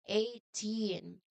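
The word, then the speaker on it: eighteen: You must ignore those letters. The sound is 18. 18. Ignore the letters G and H in the okay in their respective formal outear.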